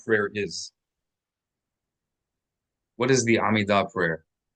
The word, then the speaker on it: Amida: And we want to accent the last syllable of that word, Amida.